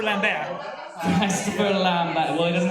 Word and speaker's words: Lambert: that's pronounced Christopher Lambert.